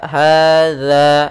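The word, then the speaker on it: هذا: Di sini dza hadza. Hati-hati dalam pelafalan. Dza bukan dibaca dengan za tapi dia dza.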